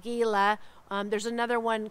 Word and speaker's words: Gila: Everybody always gets caught up on one of the streets called Gila, and they call it Gila.